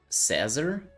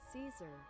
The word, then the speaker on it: Caesar: Cazar. Tazzar. Tazzar salad. Is that how you pronounce it? Hold on. Caesar.